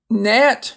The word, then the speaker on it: gnat: Gnat is a little bitty flying animal that gets on your vegetables.